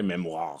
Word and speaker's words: memoir: You have to say it like that, by the way, memoir.